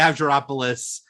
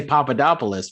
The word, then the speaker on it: Avgeropoulos: I've Maria Avgeropoulos. So many hundred panels. I just said it right, but trust me, I did not always say it right. I would just say Papadopoulos because.